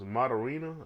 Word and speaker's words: Moderna: The other was Moderna. That's how you pronounce it.